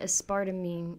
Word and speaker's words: aspartame: Aspartame. I don't know how to say it. You were saying aspartame. Yeah, but I'm English. It's aspartame.